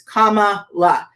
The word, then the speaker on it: Kamala: her name i'm like it's comma it's not that part it's really not